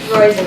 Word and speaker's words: Roizen: Roizen, it rhymes with poison.